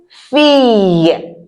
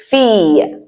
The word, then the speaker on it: fille: Une fille. Did you hear how I said it? Fille. I didn't say fille. Because the L is not pronounced.